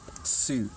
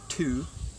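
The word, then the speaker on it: つ: Tsu, instead of tu, it's tsu, like tsunami, right?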